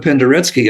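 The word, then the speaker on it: Penderecki: okay Polish composer uh Kristoff Pendery p n d r e c Ki pronounced Pendery Pendery who was a brilliant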